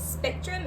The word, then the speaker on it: SPXTRM: It is, it's Spectrum, and it's SPXTRM.